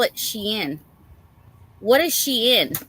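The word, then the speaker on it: Shein: Oh, and then um I I had to call my other daughter cuz uh I was like for anybody who knows about Sheen.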